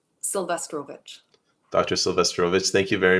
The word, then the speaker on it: Sylwestrowicz: Doctor, how do we pronounce it again? Sylwestrowicz.